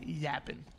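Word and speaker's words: Yappin': i n no G Yapp y PP i n okay apostrophe you say it like that 45 to 21 favor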